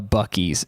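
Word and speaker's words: Buc-ee's: real gas station looks like search what a bues is a it's spelled bu u c e e apostrophe s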